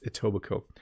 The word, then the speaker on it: Etobicoke: If you look at it, it's kind of a strange looking name and it looks hard to pronounce, but it's Etobicoke.